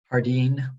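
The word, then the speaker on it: Jardine: and your name sir hardine yeah and she uh writes down jay is silent of course sir and what will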